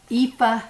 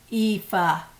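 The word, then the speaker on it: Aoife: with it i was inspired by marie callan's eepha scarf that's how you pronounce it it's not spelled that way it's spelled a-o-i-f-e but it's pronounced in scotland as or it's irish i'm sorry ifa it's pronounced ifa she had produced this beautiful pattern it was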